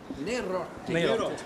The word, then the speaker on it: Neirotti: Neirotti. You've got to say it like an Italian if you're going to do this.